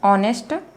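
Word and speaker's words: honest: ठीक है, अब यहाँ पर जो है ये एज जो है, एच साइलेंट लेटर है, एच का उच्चारण हम नहीं करते, साइलेंट करते हैं, उसको हम छिपा देते हैं, इसलिए साइलेंट लेटर बोलते हैं, मतलब छिपा हुआ रहता है।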